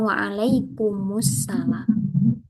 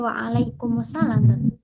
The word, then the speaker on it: waalaikumsalam: Nah, ketika di wasolkan waalaikumussalam gitu loh, Ustaz jawabnya waalaikumsalam. Kan berarti enggak ada al-nya. Iya, itu karena apa ya? Kesalahan pengucapan saja. Jadi yang betul ya waalaikumsalam.